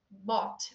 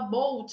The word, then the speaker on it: bought: Então, assim, a pessoa às vezes você pronuncia o passado de bike, muita gente confunde. Bought. Aí ele fala boat, alguma coisa assim, a pessoa, you bought, I bought. O cara nunca mais esquece.